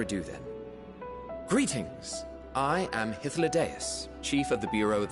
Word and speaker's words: Hythlodaeus: I am Hythlodaeus, Chief of the Bureau of the Architect.